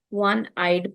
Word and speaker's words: one-eyed: So whenever it is singular noun, one-eyed, it should be a one-eyed person. O-N-E. Though it begins with a vowel sound, but when I'm breaking the word one-eyed, it is not giving a vowel sound, rather it is giving a consonant sound.